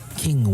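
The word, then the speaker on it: Qing: Garrett in a beautiful tune called King when and King is spelled q i n g when we n has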